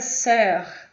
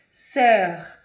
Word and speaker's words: sœur: A palavra sœur, sœur, que é irmã, ok? O PH tem pronúncia de F, o QU tem pronúncia de K, como com, 40, ok?